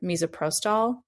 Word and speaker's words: misoprostol: And the zine is specifically for self-managing a medication abortion with, and I'm totally going to mispronounce these, so please correct me, but mifepristone and or misoprostol through the end of the 12th week of pregnancy.